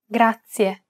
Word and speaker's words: grazie: It's pronounced grazie. This word uses the rolled R sound. Grazie. To pronounce this sound, place the tip of your tongue on the gum ridge behind your upper teeth, just like you do when you want to say the English D sound.